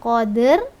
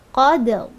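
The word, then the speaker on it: قدر: Jangan lupa ketika ada dua huruf yang mati kan di sini ada dua huruf yang mati maka cara membacanya dihentak ee bukan qadr syahr tetapi qadrl dihentakkan supaya e nya bunyi e atau tawalud menjadi hilang syah syah syahu syah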